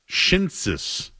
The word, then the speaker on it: Schintzius: Now, it's spelled Schintzius. Shinsis.